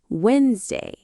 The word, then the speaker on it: Wednesday: A lot of people say Wednesday, but in natural English, we say Wednesday. Right, the middle D and E sound disappear.